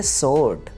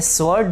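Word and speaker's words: sword: Next तलवार की English होती है सोर्ड। ये स्वॉर्ड लफ्ज़ नहीं है, बल्कि सोर्ड, सोर्ड, सोर्ड।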